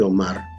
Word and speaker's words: Omar: Lo mismo que Omar, la sílaba tónica es Mar, termina en R, no lleva acento ortográfico.